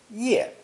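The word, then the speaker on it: 页: a fully drawn head pronounced fourth tone ye originally meaning simply one's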